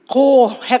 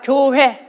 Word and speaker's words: 교회: 정확 하게 발음 해야 합니다 . ' 고해 ' 가 아니라 ' 교회 ' 입니다 .